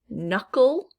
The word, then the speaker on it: knuckle: Silent K as in knuckle. Knuckle, obviously it's this first K that is silent that we do not hear.